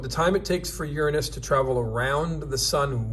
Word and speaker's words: Uranus: Uranus. Yes, I pronounced it correctly.